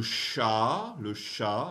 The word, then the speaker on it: chat: Le chat, don't pronounce the T.